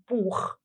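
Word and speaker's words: Buch: كتاب بوك، بالالماني بنقول بوخ. بوك، بوخ.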